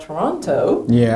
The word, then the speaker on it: Toronto: Yeah, am I pronouncing Toronto? Toronto, like you, if you say the second T, you're an out.